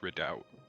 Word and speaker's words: Redoubt: Oh, well, this seems a bit round about No, it's it's actually pronounced redout.